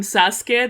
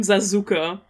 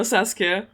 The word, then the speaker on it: Sasuke: So in the very old German Naruto dub, they don't call him Sasuke, they call him Zazuka. They just pronounce all the letters.